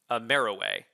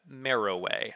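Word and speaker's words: Meroë: it has a new capital at ameriway and that is how you say that marrow way i just watched that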